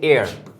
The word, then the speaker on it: heir: HEIR। इसको बोलते हैं एयर, जिसका मतलब होता है उत्तराधिकारी या सक्सेसर।